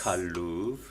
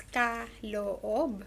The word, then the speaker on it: Kaloob: The name of your dancing group is Kaloob, Yeah, so not it's Kaloob. no. It's actually a three-syllable word, so that's Kaloob.